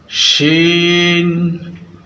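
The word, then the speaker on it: ش: খ, খ, দাল, দাল, জাল, জাল, র, র, জা, জা, সিন, সিন, শিন। দাঁতের ফাঁকা জায়গাগুলো দিয়ে আমরা মুখের বাতাস বের করে দিব এবং মোটা করে বলবো শিন।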